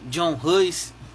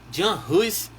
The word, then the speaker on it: Jan Hus: Tem gente que chama John Hus, tem gente que chama Jan Hus, Jan Hus. E eu prefiro ficar com Jan Hus, que é uma pronúncia mais próxima da Boêmia, hoje a Tchecoslováquia, né? E é uma forma de falar o nome dele mais próxima do real, tá?